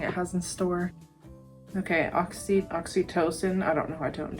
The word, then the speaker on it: Oxytocin: So it is pronounced oxytocin.